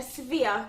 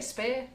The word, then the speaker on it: sphere: a sphere. A sphere. Sphere. Is it, Sphere. how do you say it? Ball cake. Sphere. Dummy. Sphere. Oh, I say spear. No, that's the pointy thing.